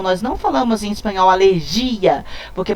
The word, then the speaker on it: alergia: em espanhol alergia, porque para falar alergia eu tinha que ter esse i aqui acentuado. Se eu não tenho acentuado, a palavra não é oxítona, ela não pode ter a sílaba tônica aqui nessa posição. Ela vai ter aqui uma paroxítona pra gente no espanhol, tá? Então, eu digo la alergia e não la alergia.